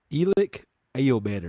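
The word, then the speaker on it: Elic Ayomanor: But Elick Ayomanor, is that how you say his name?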